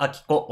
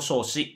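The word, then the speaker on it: 彰子: については名前の読み方発音の仕方が分かってないことが多いのでえ貞子と明子ではなくて亭子と少子という風に読んだりすることもあるん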